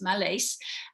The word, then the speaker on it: Mallace: name is spelled m-a-l-l-a-x-c-e mel wallace but with an m yes malays and uh you came